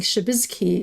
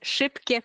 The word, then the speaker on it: Szybkie: I was thinking Szybizki or no, it's Szybkie Puzzle.